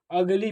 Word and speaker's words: ugly: जो कॉन्सोनेंट है, समझिएगा, यदि किसी वर्ड में यू के बाद दो कॉन्सोनेंट रहेगा तो जो यू है इस यू को अ प्रोनाउंस किया जाता है। क्या किया जाता है? तो इसे अगली पढ़ा जाएगा।